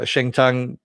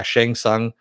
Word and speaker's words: Shang Tsung: is you have uh shentong uh did i say his name right i always mispronounce it yeah shang tsung uh you know kind